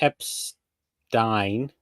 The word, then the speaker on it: Epstein: I think Epstein rhymes with Frankenstein.